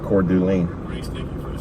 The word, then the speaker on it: Coeur d'Alene: Pronounced Coeur d'Alene.